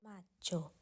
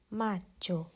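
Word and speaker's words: Maggio: เมษายน ค่ะ เดือน ถัด ไป นั่น ก็ คือ มาโจ มาโจ พฤษภาคม ค่ะ ต่อ กัน ที่ เดือน ถัด ไป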